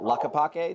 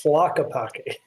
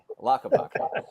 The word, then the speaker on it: Tlaquepaque: It's in an area called Tlaquepaque. Did I say it right? No. It's Tlaquepaque. Tlaquepaque. I'm close enough.